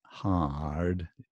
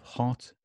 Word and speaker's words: hot: British pronunciation is hot. I'm very hot. So it's not ha, right? It's not rounded. It's kind of just relaxed and flat.